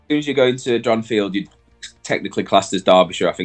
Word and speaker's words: Dronfield: I mispronounced it sorry I said dronfield is it dronfield Dr it is dronfield right okay you got it yeah know the top